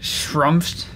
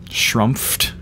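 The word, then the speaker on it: schtroumpfed: So there's something that I think is supposed to be shrumped. Shrumped. It's S-C-H-T-R-O-U-M-P-F-E-D. Shrumped.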